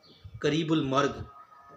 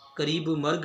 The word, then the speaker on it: قریب مرگ: ہوگا۔ اب ایک اور بعض طلباء پوچھتے ہیں کہ سر یہ جو ترکیب ہے قریب المرگ، کہتے ہیں کہ یہ غلط ہے، قریب مرگ ٹھیک ہے، تو اس کے